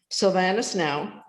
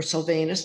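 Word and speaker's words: Sylvanus Now: order uh downhill chance sylvanas now or sylvanus depending on how you pronounce it what they wanted the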